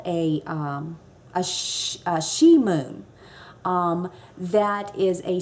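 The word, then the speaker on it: sidhe: it ban and s-i-d-h-e she so ban she so now you know how to pronounce it s-i-d-h-e is she that's the shi moon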